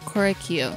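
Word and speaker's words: Korekiyo: Korakio.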